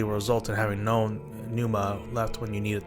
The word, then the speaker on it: pneuma: use uses no nanuma pneuma I guess it's called maybe the p is silent pneuma okay A versatile but